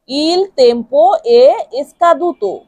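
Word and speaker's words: il tempo è scaduto: ইল ইল টেম্পো ইল টেম্পো আর ই কে উচ্চারণ করতে হবে এ ইল তেম্পো এসকাদুত এসকাদু ইল তেম্পো এসকাদুত ইল তেম্পো এসকাদুত ইল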